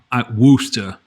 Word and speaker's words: Worcester: that I would say, Worcester, I think is how you would say it. Not how it's spelled, but that's how you say it.